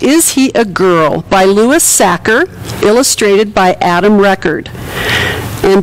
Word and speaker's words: Sachar: The author is Sachar. It rhymes with cracker.